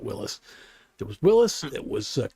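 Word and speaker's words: Willys: It's all crammed in together and well Jeep was Willis or Willies but they actually the guy pronounced it Willis.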